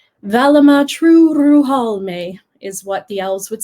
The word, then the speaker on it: Turuhalmë: elven holiday known as true Ruhal may or true Ruhal may in elvish you always want to roll your R's so try your hardest to roll that are Vallum ah true Ruhal may is what the elves